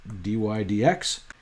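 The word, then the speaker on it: dy/dx: That's the symbol he used, and you just say it like that, dy dx.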